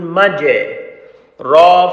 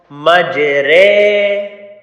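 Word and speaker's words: مجراها: Majere. Will not be saying majera because this is the only one word in the Hafs and Asam min tariqa shāṭṭabiyya, the recitation we are doing. This only one letter, this ra, we call it imala.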